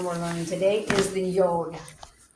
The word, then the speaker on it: Yod: And then your 10th letter that we're in, final one we're learning today is the Yod. You're also going to hear it, some people say Yud, Yep.